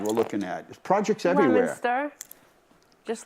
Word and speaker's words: Leominster: what's this slide we're looking at projects everywhere lemster just lemonster can we go to the next sure we